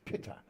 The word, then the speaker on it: Pita: Not Peter, it's Pitta.